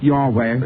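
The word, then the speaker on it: Yahweh: spelled a different way the vowels were not used in the spelling and nobody is absolutely certain but apparently it is why HWH are the continents and pronounce like your wave as far as we know and that name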